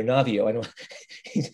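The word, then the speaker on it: Naviaux: of dr navi not that's actually sacha navio um that's a little french pronunciation thank you who knows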